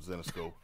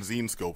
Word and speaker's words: Zenescope: All right, that was Josh from Zenescope. Apparently I've been pronouncing it wrong. I've been saying Zenescope for like 2 weeks. It's Zenescope.